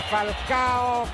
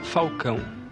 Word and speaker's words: Falcão: Momento di grande tensione, Falcao, gol! La Roma vince la Coppa Italia. Il nome mio si pronuncia Falcão, però come il tifoso romanista mi chiama di Falcao, adesso mi chiama Falcao.